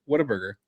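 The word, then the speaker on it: Whataburger: So, Waterburg, how do you pronounce it? Say it again. Waterburg. Waterburg. Waterburg. What a burger.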